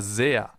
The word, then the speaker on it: sehr: That's why it's called Bienen S, because it's pronounced Z, as in super, for example, or sehr.